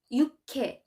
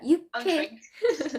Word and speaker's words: 육회: That's what we call 육회. Yeah, 육회. Yes, good pronunciation.